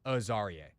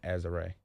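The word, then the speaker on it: Azareye'h: Am I saying it wrong? I don't know what you said, but I know that it's Azarie. I was saying Azare. Yeah, no, it's Azarie.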